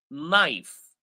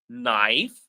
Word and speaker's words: knife: So Soljin says K is nothing is not pronounced and you are correct.